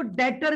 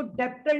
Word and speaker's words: debtor: इसको डेटर भी कहते हैं, DEBTOR। यहाँ पे बी साइलेंट होता है और इसको डेप्टर नहीं पढ़ते, इसको डेटर पढ़ते हैं।